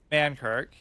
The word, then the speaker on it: Mankirk: So we're sort of avenging her literally because she is the wife of Mankirk. It's like Mancrick, but I just like the way that sounds better.